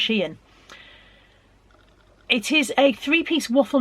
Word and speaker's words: Shein: I was quite pleased with this one because it's only I can never decide whether to pronounce it Shein or Shine or Shane or whatever. Anyway, I think it's pronounced Shein.